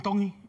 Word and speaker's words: Tongi: My name is Iam Tongi, and I'm from Kahuku, Hawaii. Iam Tongi. Tongi. You pronounce the T's like a D in the Tongan culture.